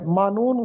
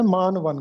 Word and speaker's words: معنون: ہے، معنون کیا ہے، مانون غلط ہوتا ہے، درست تلفظ ہے معنون کیا ہے۔ یہی وہ کتاب ہے